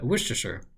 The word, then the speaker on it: Worcestershire: So this is Worcestershire, which is hard to say just because it's hard to pronounce, because not all the letters are in the pronunciation.